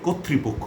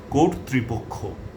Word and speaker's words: কর্তৃপক্ষ: যেমন নেত্রী নেতৃবৃন্দ নেতৃত্ব কর্তৃত্ব কর্তৃপক্ষ এই শব্দটাকে অনেকে কর্তৃপক্ষ বলেন এটি ভুল উচ্চারণ উচ্চারণটি হবে কোরত্রিপক্ষ কর্তৃপক্ষ অর্থাৎ ত এর মধ্যে রেফ আছে আবার